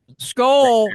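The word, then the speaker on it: Scull: Skull rhymes with dull, but keep going.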